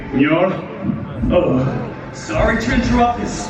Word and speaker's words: Mjolnir: How do you say it? Mjolnir? Mjolnir. Mir. No. Mjolnir. Mjolnir. Repeat after me. Mjolnir.